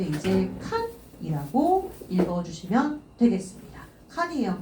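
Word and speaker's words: 看: 들어가 있는데 이거 음봉으로 읽어 줄 때 이제 칸이라고 읽어 주시면 되겠습니다 칸이에요 칸 자 그럼 체크 한번 해 보도록 할게요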